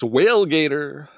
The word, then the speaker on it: Whalegator: Up against Whalegator. Rhymes with Tailgater.